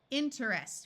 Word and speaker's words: interest: with two syllables every this word if spoken carefully would be inter interest with three syllables most of the time when it's spoken it's spoken as two syllables interest where the e sound is completely lost here are some of my